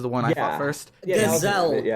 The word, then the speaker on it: Gazelle: And so we fight him, and this was Gozel, I think, was the one I fought first. Gazelle. It's pronounced Gazelle.